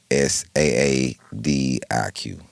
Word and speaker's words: Saadiq: My name is Siddiq. His name is Saadiq. Right. It's actually pronounced different.